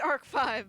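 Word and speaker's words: ARC-V: i thought it was i know it's pronounced arc five but i'm just like nope that's arc v like all my yu-gi-oh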